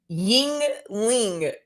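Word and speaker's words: Yuengling: will come back okay she told me how to say the beer it's ying ling so look at that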